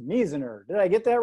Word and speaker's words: Measner: john and the last name i believe is pronounced miziner did i get that right john you got